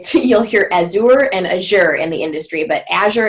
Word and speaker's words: Azure: Azure Active Directory and I do believe it's pronounced ash or it city or as sewer and as you're in the industry but Asher is the one